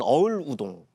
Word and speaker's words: 어을우동: 아마 음차한 걸 거예요 당시에이 사람을 이렇게 발음 했었던 거를 한자로 이렇게 적어 놓은게 어우동 혹은 어을우동 어을우동 어을우동 실록에 그렇게 적혀져 있고요